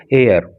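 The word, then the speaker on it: heir: London से हर political एयर इसमें एच जो है इसके प्रोनंसिएशन में सा साइलेंट रहता है इसको हेयर नहीं पढ़ेंगे इसको एयर पढ़ते हैं एच साइलेंट है यहां पर तो अपने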